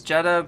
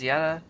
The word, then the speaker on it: Jedha: It's it's Jedha, but like proper pronunciation is Yetta.